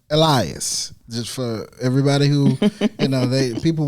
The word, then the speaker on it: Elias: And it's so, his name is pronounced Elias.